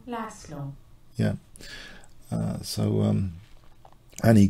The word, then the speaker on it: Laszlo: So a fantastic player, Hungarian player, uh, Zabo, the pronunciation, Zabo Lasslo.